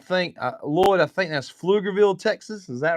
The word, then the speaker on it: Pflugerville: Pflugerville, it is how you pronounce it.